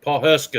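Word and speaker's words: Pawhuska: Paul Husky or I don't know how you say it, but Yep. Paul Huska is how you say it.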